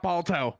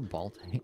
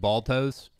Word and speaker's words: Balto: Hey, do you guys remember the kids movie with ball toes? Yeah, ball toes. I'm gonna do it. Wait, how is it supposed to be pronounced?